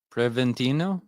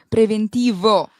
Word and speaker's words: preventivo: Preventino. No, preventivo. There is a V at the end, not an N.